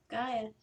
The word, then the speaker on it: Gaia: And we're at the Gaia Hotel. Is that how you pronounce it? That's right, Gaia, yes.